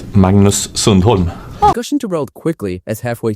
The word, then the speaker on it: Magnus Sundholm: Magnus Sundholm.